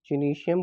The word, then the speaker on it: gynoecium: तीनों यहाँ पे फीमेल फ्लावर के पार्ट को हम यहाँ पे क्या बोलते हैं, जिनीशियम बोलते हैं। क्या बोलते हैं हम यहाँ पे, जिनीशियम।